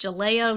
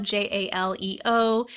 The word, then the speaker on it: Jaleo: There's also a restaurant, I believe it's pronounced Jaleo, Jaleo, that will be opening sometime in 2018 where Portobello's has been located.